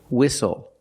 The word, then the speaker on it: whistle: We also see the silent T when you have the spelling pattern S-T-L-E. Like these words, whistle, castle, and hustle.